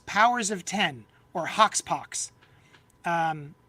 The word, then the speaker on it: Powers of X: called House of X powers of 10 or Hawk poox um it's really spelled like House of x powers of X but it's pronounced House of X powers of 10 and all 12 issues